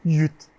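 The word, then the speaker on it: 越: Et en cantonais, Yue se prononce Yut.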